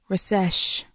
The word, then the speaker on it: rsu: Rejoice is pronounced as recesh. Recesh.